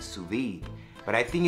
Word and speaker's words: sous-vide: that being said enjoy the video and it's pronounced sous-vide not survey oh Lord now also we're gonna make we're